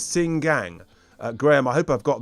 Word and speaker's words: Xinjiang: It's not Xinjiang, it is, according to Graham, and I'm going to try and hopefully get this right, it is Xinjiang.